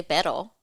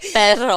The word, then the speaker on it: perro: Like I can say pero. But it doesn't roll No. as much, you know? no, say it right. No. You didn't say it right. Perro.